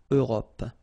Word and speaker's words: Europe: Remember this final E, it's not really present. It only gives you the possibility to pronounce this P, PP at the end, okay? Europe.